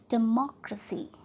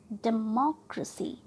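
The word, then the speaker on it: democracy: इस वर्ड को आप कैसे प्रोनाउंस करेंगे, डेमोक्रेसी, डेमोक्रेसी। हम मॉ को ट्रस्ट करेंगे, ये हमारा आखिरी से थर्ड है, 1, 2 and 3, राइट।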